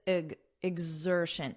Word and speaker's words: exertion: at the pronunciation because notice you have X but that's not how it's pronounced it's pronounced as IG exertion IG exertion exertion exertion and then you just